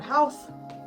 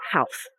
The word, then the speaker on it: Howth: Okay, this is the fit to go to health.